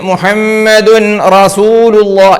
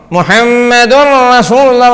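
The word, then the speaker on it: مُحَمَّدٌ رَسُولُ اللَّهِ: അപ്പൊ എഴുതിയതുപോലെ വായിക്കുകയാണെങ്കിൽ മുഹമ്മദുൻ റസൂലുള്ളാഹ്, അല്ലെ? ദുൻ റ പറ്റൂല.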